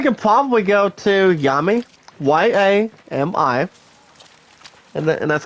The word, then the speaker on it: Yami: Well, I guess we can probably go to Yami, Y-A-M-I, and that's called Yami. Yami, not Yumi. Like Yumi is pronounced as U-M-M-I. Like Yami is Y-A-M-I.